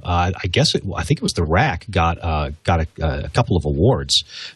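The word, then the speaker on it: RAQ: The Rack, the R-A-Q, isn't that cute?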